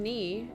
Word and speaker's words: knee: to understand that part the k and knee is represented with the n stroke because the k is silent that makes sense um